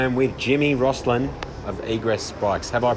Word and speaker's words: Egress: I am with Jimmy Roslin of Egress Bikes. Have I pronounced that correctly? That's probably correct, yeah. Are you being too polite to correct me, or how do you say it? Egress Bikes, yeah.